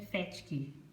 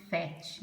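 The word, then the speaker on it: PhET: Esse FET ou PET, acho que é FET que pronuncia, né?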